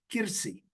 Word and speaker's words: Kursi: For us, it is easier to say Kursi. It means lamp. Lamp means nutu'at, أو تكتلات. The meaning of the word Kursi. The Greeks pronounce it Kirsi, with ki, not ku, Kirsi.